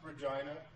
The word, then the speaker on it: Regina: It's pronounced Regina for some reason.